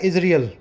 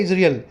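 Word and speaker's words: Israel: compromise कह रहा है जो इजराइल नाम का ये देश है जिसको अंग्रेजी में प्रोनाउंस किया जाता है इजरियल ठीक है सही प्रोनंसिएशन क्या है इजरियल अपने चाइना को चीन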